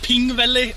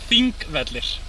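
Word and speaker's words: Þingvellir: Yes, I heard you call it Pingvelli or something. Yeah. It is not even close. Pingvalla vatten. Pingvellir. The P-looking thing is a TH.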